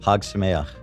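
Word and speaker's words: Chag Sameach: And then I don't know anything how do you pronounce the thing that people say to celebrate a holiday? It's C-H-A-G. Hag Sameach.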